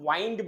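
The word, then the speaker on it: wind: किया जाता है ना उसको वाइंड बोला जाता है guys actually some people pronounce it विंड also but द विंड is different you know that so I have to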